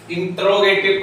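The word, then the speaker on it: interrogative: देखिए भाइयों बहनों, कुछ लोग जो हैं इंट्रोगेटिव पढ़ते हैं इसे, लेकिन इसका इंट्रोगेटिव प्रोनाउंस गलत है, इंटेरोगेटिव होता है, क्योंकि जो ई लगी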